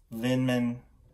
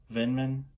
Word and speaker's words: Vindman: Lindman. Please be okay. Please don't be too mad with me getting his name wrong. Hey Google, Lieutenant Colonel Vindman.